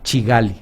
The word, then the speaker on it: Kigali: de uganda kampala y la capital de ruanda kigali en la lengua local de ruanda que se llama kinyarwanda la pronuncian como sigali es acá se produce como